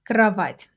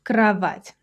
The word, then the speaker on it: кровать: The stress is on the last syllable, by the way. Кровать. Кровать. It's a soft ending. That little apostrophe means that you have to soften the t slightly.